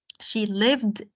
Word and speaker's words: lived: verb live, or sorry, when you add d to the verb live, so here you add or you pronounce it as d sound. She lived in Paris. She lived in Paris. She lived in Paris. So here it's not t, it's d.